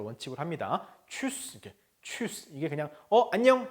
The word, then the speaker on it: Tschüss: 자, Tschüss. 우리 이거 첫 시간에 봤었죠? 우 umlaut니까 그렇죠? 위하고 다르다 그랬어요.